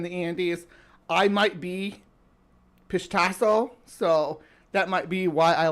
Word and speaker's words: Pishtacos: Pishtacos. Gotta start saying it right. I still want to call it. I don't call them fish tacos anymore.